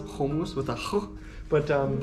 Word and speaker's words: komuz: uh i'll spell it right here um it's pronounced homus with a ha but um it's like a